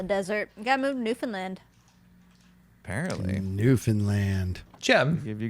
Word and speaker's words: Newfoundland: It's Newfoundland. Oh man. You're supposed I to just like say it quickly. Newfoundland.